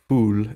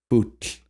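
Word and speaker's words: fúll: And then, of course, we have Old Norse fool as well. Or if you want to pronounce that with modern Icelandic instead of reconstructed pronunciation, it's fut.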